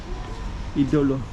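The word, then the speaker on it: Ídolo: The pronunciation is on the I. Idolo. Patio. Idolo. Usually in Portuguese it's like it would be on the second to last syllable, but idolo instead of idolo.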